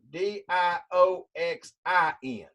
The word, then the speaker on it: dioxin: where you are dioxane now I want you to pronounce this word di o X I n dachshund dachshund dog saying they sound a lot alike I want you to